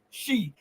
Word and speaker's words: Xi: Z is pronounced she. Well, one of my Chinese friends said Xi. And so I say Xi. Okay. She, Xi. I can be wrong on that, okay?